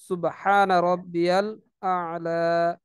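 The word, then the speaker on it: سبحان ربي الأعلى: আমাকে অবশ্যই এগুলো সুন্দরভাবে উচ্চারণ করতে হবে। সুবহানা রব্বিয়াল আ'লা, সুবহানা রব্বিয়াল আ'লা, সেজদার তাসবিহ এভাবে বলতে হবে।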